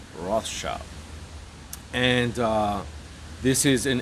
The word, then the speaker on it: Rothschild: said rothschild it's because a german friend of mine was trying to get me to pronounce it in german and i just butchered it so i just was kind of saying ross shield which he says is not incorrect but i'm american so it's rothshop and uh this is